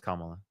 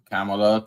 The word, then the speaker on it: Kamala: jack Her name is Kamala. Okay. Kamala. Camela. Camala. Whatever. Okay. Kamala. Do it one more time and I'll kick you. Like you can say Harris if you can't say her name correctly.